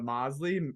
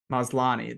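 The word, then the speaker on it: Maslany: supposed to be I really did like Tatiana Mosley man I don't I don't know how to say her last name um maslani there we go um I really like her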